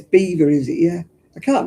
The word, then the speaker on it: Belvoir: It's not pronounced Belvoir, is it? I like their um elderflower cordial. It's pronounced nothing like it's spelled.